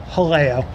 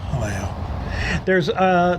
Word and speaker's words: Jaleo: It's Jaleo, and I asked the manager of the restaurant, and it is pronounced Jaleo. Jaleo.